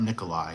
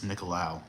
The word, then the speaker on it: Nicolau: It's not Nikolai, it's Nicolau, I think.